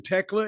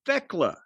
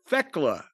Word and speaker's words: Thekla: It's I thought it I was hearing Techla. It's Theckla. Thekela is what her name is. T H E K L A. Thekela.